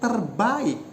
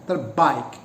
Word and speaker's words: terbaik: Actually, the pronunciation should be bila yang tertulis untukku adalah yang terbaik. It should be a sequence of two vowels, baik. But Bams pronounce that, realize that, not as a sequence of two vowels, but as a diphthong, terbaik.